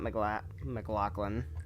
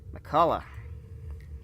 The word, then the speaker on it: McCullough: No, not McLaughlin. Let's pronounce that correctly, please. McCullough.